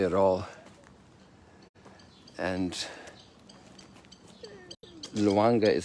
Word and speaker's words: Lwanga: And Luanga is spelled Lwanga if you want to Google.